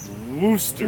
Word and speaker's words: Worcester: It's pronounced Worcester.